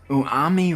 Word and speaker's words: Umami: And I'm always gonna say that wrong. I swear. Maybe I said it right. Umami. Umami. Yes, umami. I forgot the M, guys. There's 2 M's. Yes, it's 2 M's. It's not 1. It's 2. The more you know.